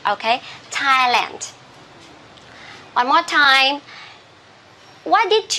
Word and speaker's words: Thailand: okay the country so uh uh we don't pronounce this one as Thailand this is T okay Thailand one more time what did you do on